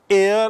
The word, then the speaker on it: heir: The last heir of a powerful family that had ruled Egypt. Heir means uttaradhikari. Dekhi, hair matlab baal. Aur uski spelling kya hai? H-A-I-R. Aur heir mane uttaradhikari, H-E-I-R.